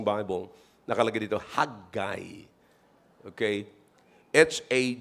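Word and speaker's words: Haggai: I don't know if you have uh uh if your Bible is self-pronouncing, meron mapo-pronounce niyo ng tama. Pero sa dictionary, mga kapatid, pwede naman yung haggiay.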